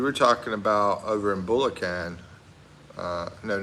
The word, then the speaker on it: Bulacan: It's Bulacan, and you said it right. Oh, it's Bulacan.